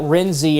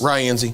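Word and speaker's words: Rienzi: and Biggersville most likely probably close to that Renzy area. I guess that's how it's pronounced. Ryenzy.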